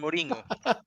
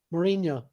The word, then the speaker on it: Mourinho: the meme by the way with um the Morino have you seen this no look I I